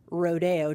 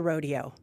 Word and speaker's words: Rodeo Drive: Street in Beverly Hills Rodeo Drive is pronounced differently to Rodeo they're saying it the Spanish way for CBC Radio I'm